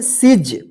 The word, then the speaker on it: siege: हम पढ़े हैं ब्रीफ, SIEGE, इसको क्या पढ़ेंगे, सिज, इसको सीजे नहीं पढ़ेंगे, देखिए लास्ट में ई है, सिजे नहीं पढ़ेंगे, क्या पढ़ेंगे, सिज।